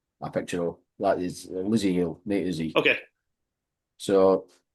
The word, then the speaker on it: Lzzy: So apparently it is Lizzie Hill. It is Lizzie Hill, okay. But it's spelled Lzzy.